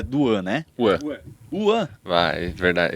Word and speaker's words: Wan: tudo né mas o meu nome é w é uan se pronuncia então eu não recebeu